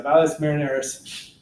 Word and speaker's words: Valles Marineris: I can never pronounce it right because there's marinara sauce. It's the Mariner Valley, or Mariner Valley, excuse me, Mariner. You know, the Seattle Mariners, everybody. So Marineris, yeah, Valles Marineris.